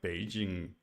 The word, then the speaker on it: Beijing: You can think of Beijing Beijing as being pronounced low high.